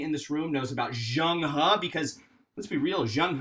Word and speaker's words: Zheng He: name is zhang ha i know that looks like zhang hee that is pronounced zhang ha and he was the